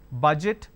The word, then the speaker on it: budget: charge now pay attention the letter J is missing here for for this particular word and for this particular word so you need to be very very sure how to pronounce it and the best way to learn is either from dictionary or from Google so George oint budget charge even though the letter is missing but this sound is existing here then we